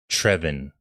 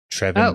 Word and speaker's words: Trevion: Also, I did hear from an Arkansas fan that his that I was told to pronounce his name like Trevin. Trevin Brazile.